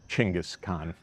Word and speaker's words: Chinggis Khan: We know him as Chinggis Khan in English, or more appropriately in Mongolian pronunciation as Chinggis Khan.